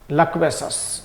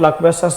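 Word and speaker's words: loquacious: देखो दो वर्ड होते हैं, ढंग से समझेंगे आप, अच्छे से समझ लीजिए, सही प्रोनाउंस होता है इसका लक्वेसस, अपन लोकवेसस लोकवेसस बोल देते हैं, लेकिन अगर स्पीकिंग करते हैं तो लक्वेसस।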